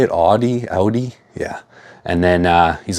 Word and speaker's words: Audi: Audi?